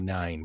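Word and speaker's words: Nein: their first campaign the second campaign is the mighty nine but it's spelled n-e-i-n so the mighty like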